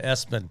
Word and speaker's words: ESPN: Kennedy has a young man whose name is spelled ESPN. Yeah, Espen.